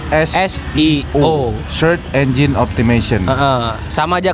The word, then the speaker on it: SEO: Seo Seo artinya I kalau orang-orang bilang Sio ya tapi sebenarnya bacanya pakai bahasa Inggris CSO search engine optimization sama